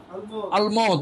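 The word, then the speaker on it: allemande: এরপর আসছে লিজা, এলে, এটাও মেয়ে, এলে আলমো, তাহলে কি আলমদ, উচ্চারণ হবে আলমদ, আর ছেলেরা হবে আলম।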